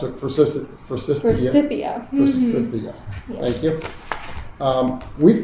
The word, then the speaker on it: Forsythia: I think this bush, I'm not sure I know how to pronounce it, Forsythia. Forsythia.